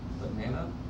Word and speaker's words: banana: Banana. Okay, what's the stressed syllable? The middle one.